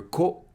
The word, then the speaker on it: こ: Ko. Ko is pronounced like ko in cohabitating. In British English, it is more like ko in coin. How to remember ko?